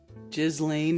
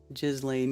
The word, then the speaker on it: Ghislaine: Ghislaine is the correct pronunciation for sure. Ghislaine, yeah.